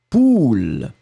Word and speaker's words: poule: Le premier A, on va le prononcer très très rondement, ou, poule.